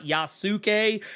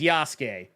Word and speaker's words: Yasuke: y's name is Yas it's not yasuke is not yasu K it is not yasu g it is yasuke anyway moving on I